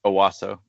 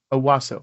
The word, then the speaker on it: Owasso: Owasso. Owasso.